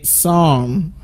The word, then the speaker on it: psalm: the Bible isn't it so you don't pronounce the letter P in that word it should say song also the next one